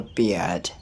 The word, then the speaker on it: bear: start with bear bear so this one has a deep thong air I don't pronounce that r i don't say bear I don't say bear but I say bear bear listen then see